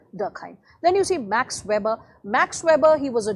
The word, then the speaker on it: Weber: calling him max as we call it in a very anglicized american pronunciation a german will call him max max weber okay but we'll go by max weber to keep it simple so max weber and